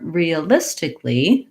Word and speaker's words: realistically: sounds like uh riya but in the word realistically the l really jumps on to this third syllable so that takes care